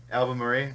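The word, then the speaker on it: Albemarle: the 2nd Duke of how do we pronounce that el bair album Murray yeah the right album Murray okay and he was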